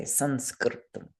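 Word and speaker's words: saṃskṛtam: And what we would do is change that consonant that follows the anusvara into its related nasal. And since it's another S, a fourth Varga sibilant, we'll change it to the fourth Varga nasal. So we would say Sanskritam.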